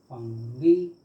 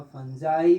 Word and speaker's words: fungi: फंगी या फंजाई भी कहीं कहीं प्रोनाउंस किया जाता है, फंजाई।